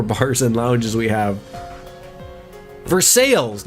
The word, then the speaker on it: Versailles: Vers sales, not Versalis.